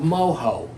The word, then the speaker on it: mojo: We have a key ingredient here, which is called mojo. M-O-J-O. It's Spanish, Cuban to be specific. Mojo. Not mojo. Not mojo. That's entirely different. That's different. It's spelled the same way.